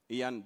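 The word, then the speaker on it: Iain: So there's a gentleman called Ian Dodsworth. Ian for, when you spell Ian, it's I-A-I-N. It is spelled weirdly.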